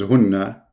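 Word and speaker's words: هُنَّ: Those two are the same word, hunna. In fact, the correct reading is hunna, not hinna.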